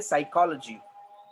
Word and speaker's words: psychology: Same case, we say psychology. We don't say P psychology.